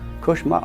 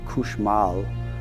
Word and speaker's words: cauchemar: Cauchemar, all cauchemar means is nightmare. It's a French word for nightmare. And there was, it's pronounced variantly in Louisiana, couche mal, which means to sleep poorly, which you could see